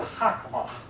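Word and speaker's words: חָכְמָה: The word for wisdom there is a word hakamah. Hakamah. And it's kind of got a fuh sound at the end.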